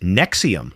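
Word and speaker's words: NXIVM: Nex IVM, pronounced Nexium, like the heartburn medication, presented itself as an executive success program that promised to unlock human potential.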